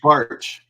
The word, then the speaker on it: Baertsch: bar or it's barch it's like bar it's easier than it looks now we were in